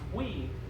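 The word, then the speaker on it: Huy: His first name was H-U-Y, but pronounced we, and his last name was Win, so it's we win.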